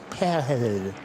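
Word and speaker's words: Pijl: His real name means arrow in Dutch, but sounds more like pale. And none of us can certain English speakers have a real difficulty in saying it. It's spelled P I J L.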